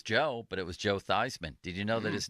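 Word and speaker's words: Theismann: to run a campaign, it's got to be Thyman for the Heisman. You got to change the pronunciation of your name."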